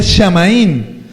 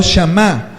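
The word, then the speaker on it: Samhain: Los druidas eran satanistas que alababan y servían al Dios de la muerte, Shamaín, pronunciado Shamá.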